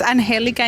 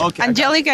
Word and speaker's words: Angelica: It's Anhelica in Spanish. Angelica in English.